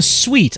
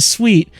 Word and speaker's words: suite: suit the suit the suite I know how to pronounce the word don't correct me on that it's not a suit I know it's not a suit it's a suite we're in here not